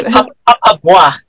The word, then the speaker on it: Papa Bois: I can't pronounce this. Yeah, Papa Bois.